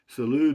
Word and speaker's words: salud: rangel says salud rusty salud is pronounced s-a-l-o-o-d means salud and it means health in spanish and it's the way